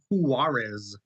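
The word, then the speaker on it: Juárez: Pronounced Tatiana and Juarez.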